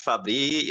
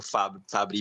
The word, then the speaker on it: Fabry: desse diagnóstico tranquilo eh não tem problema chamar de Fabri ou FAB né Eh se a gente for usar o termo original eh acaba pronunciando como Fabri mesmo mas aqui no Brasil se usar fabre também não não vai nos trazer nenhuma nenhuma condenação nenhum problema então como ficar melhor